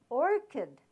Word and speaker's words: orchid: Orchid, the CH, I showed you before that CH has the sound of ch, but now I'm telling you that it has the sound of k.